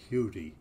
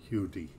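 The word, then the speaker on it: Huddie: william ledbetter uh uh as i believe he pronounced it himself hudi um was an american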